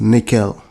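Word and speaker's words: N1QL: talking about is the annual ql pronounced nickel this is designed to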